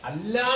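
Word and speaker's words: الله: അള്ളാഹുവിനെ പറയുമ്പോൾ എന്ത് ചെയ്യും രണ്ട് രീതിയിൽ പറയാം. അല്ലാ എന്നും പറയാം അള്ളാ എന്നും പറയാം.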